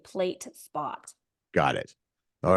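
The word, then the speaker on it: PL8SPOT: Yeah, the app is like blue and white and gray, and it's spelled PL the number 8 and then SPOT.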